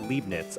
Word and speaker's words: Leibniz: Oh, it's pronounced Leibniz.